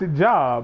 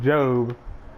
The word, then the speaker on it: Job: wrong like I think he just read a pronounced ajob but I was like yeah it's pronounced job and he was like yeah well I'm not